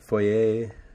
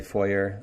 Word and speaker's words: foyer: because in canada we say foyer and stuff like that in the us they say foyer i know i spent